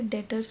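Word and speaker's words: debtors: ना इसमें हम इसे डेटर्स कहते थे इसमें बीच साइलेंट तथा 11:00 इसमें कुछ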